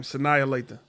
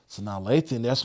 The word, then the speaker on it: Sanaa Lathan: Sanaya Lathan. Sanaa Lathan, that's one that I would say sexy.